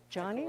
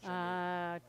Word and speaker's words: Janine: Johnny? I call it Johnny, but it's Janine.